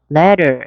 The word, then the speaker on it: letter: 자, 그럼 모음과 모음 사이 T 사운드가 부드럽게 리을처럼. 그래서 letter가 아니고 letter. 이렇게 들릴 수 있죠? 두 번만 해볼까요? letter. 앞에를 강하게 letter.